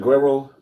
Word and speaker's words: Guerrero: If you go to places like Guerrero, I'm saying it right, Richard? Guerrero, Mexico.